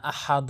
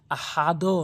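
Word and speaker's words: أَحَدٌ: হচ্ছে নিচের দিকে সাউন্ড আহাদে বলতে হবে আহাদে আহাদে তাহলে এখানে দেখুন আমাদের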